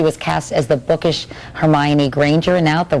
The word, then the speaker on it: Hermione: I know I know I've had so many different interpretations like oh um herion uh her but now I guess now I guess because of the movie everyone knows how to say her name and Hermione like Emma